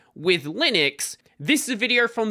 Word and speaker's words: Linux: Linus and I really don't care how people pronounce my name but Linux is always Linux as he said again Linux is always Linux